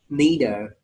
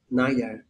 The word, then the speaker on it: neither: Cái hai cái chữ này đều có thể đọc là either hoặc là either đều được, neither, neither đều được cả nha mọi người.